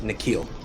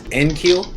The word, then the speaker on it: N'Keal: flyer on okay i'm my sources indicate that his name is pronounced nakeel i thought it was nkeel like nsync but it's not it's knuckle which is a better